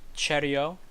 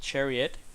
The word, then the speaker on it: Chariot: Seiko X nano universe cheerio not chariot from my understanding the T gets the T is silent and this is the